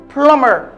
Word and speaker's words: plumber: with this one another plumber listen again I need a plumber I need a plumber the letter B is completely silent cookies the letter B